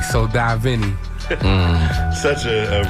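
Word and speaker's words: Divine: pronounce that man listen I've gotten Da Vinci I've gotten oh my got I've gotten dine I've gotten it all but it's D Vin and just to kind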